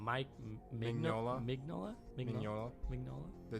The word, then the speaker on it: Mignola: Mignola.